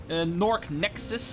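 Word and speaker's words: Gnorc Gnexus: finish it off today we are in Nork Nexus as it is officially called both spelled with GN so Nork Nexus and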